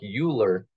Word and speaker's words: Euler: I know that it looks like Euler, but it's pronounced Euler.